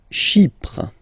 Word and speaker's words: Chypre: Chypre. Chypre. So remember, we've got this Y letter here, but then phonetically when you pronounce it, it's like I, okay?